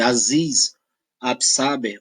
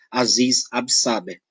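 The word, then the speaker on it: Aziz Ab'Sáber: que se diga que a pronúncia do nome dele aziz ab'saber o abner tá ela é muito relativa mas eu só consigo pronunciar aziz ab'saber tá eu vamos lá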